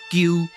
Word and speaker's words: 跔: 其實就是加一個伊，這個伊就是介音，加這個伊了後，就會使讀作鳩。